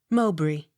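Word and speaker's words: Mowbray: m e r y montgomery accent on second syllable m o w b r a y mowbry n i g e l nigel o u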